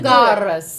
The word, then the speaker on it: Dracarys: Well, yeah, but you got to say it right. Say it with that accent. Get that Valyrian. Dracarys.